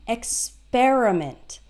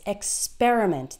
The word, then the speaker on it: experiment: differently so experiment that that P er is pronounced like pair experiment and that's where the stress is experiment that's still the case